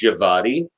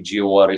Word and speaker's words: Djawadi: want I thought that because he was from Germany that the name would be pronounced javadi but his parentage is actually Turkish so the way you would say it would be jeah water so glad somebody cleared